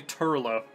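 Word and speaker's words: Toirdhealbhach: how to say it, that's actually Turla. Like, Irish is just basically ignore most of the letters, and that's how you actually pronounce it.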